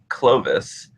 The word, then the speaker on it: Clovis: Well, his name is Clovis, and it's spelled Clovis, and it's actually that's where the name Louis is comes from.